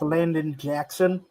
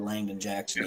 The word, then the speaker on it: Landon Jackson: Another pick the Lions could make is Landon Jackson out of Arkansas. That's who I was referring to. I think I said his name wrong. Robert Langdon's what I said. Langdon Jackson, yeah.